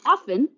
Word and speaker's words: often: smart so yeah Chantal often often is like Castle it's a silent t English 101 stuffed cupcake